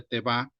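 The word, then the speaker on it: תֵּבָה: puse abajo que es la h83 92 se pronuncia te va puede ser traducido como arca cofre o nave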